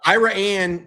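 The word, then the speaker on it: Iraan: It's Ira Anne is actually it looks like Iran.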